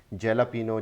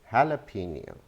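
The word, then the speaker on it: jalapeño: अब इसी वर्ड को देख लें, जैलापिनो, जैलापिनो, और हम इसको हमेशा जैलापिनो ही कहते रहे. The correct pronunciation is हैलापिनो, हैलापिनो, हैलापिनो.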